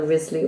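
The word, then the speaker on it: Wriothesley: with the W but he is actually it's pronounced as either Risley or wisely just an aside that because I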